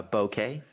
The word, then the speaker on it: bokeh: as uh okay okay how do you pronounce that Dan do you say bouquet uh bouquet bouquet yeah it's like the photo